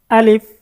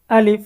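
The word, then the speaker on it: ألف: আলিফ। আলিফ। সকলে আমার সাথে সাথে উচ্চারণ করবেন। আলিফ। আলিফ। আলিফের মধ্যে কোন টান আছে? কোন টান হবে না আলিফ এটা কি জোরে বলেন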